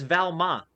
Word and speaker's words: Valmont: So, the voice actor for Jackie Chan, for some reason, has Jackie pronounce Valmont's name with a silent T because it's French. He says Valma.